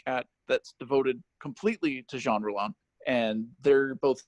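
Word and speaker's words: Jean Rollin: I said to myself, who's Jean Roland? Or as I said when I first read, I said, who's Gene Roland? I didn't know how to pronounce it.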